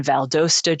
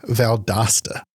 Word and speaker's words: Valdosta: So Jesus is born in Valdosta, Georgia and he goes up to Atlanta. Valdosta.